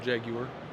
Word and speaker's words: Jaguar: It's a UAR Jaguar. That's how you pronounce it.